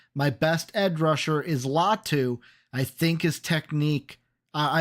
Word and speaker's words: Latu: latu or yeah right La Lau latu I think is how you say his first name they're taking latu add